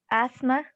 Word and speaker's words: asthma: Asthma. Very good. Asthma. And the TH is silent.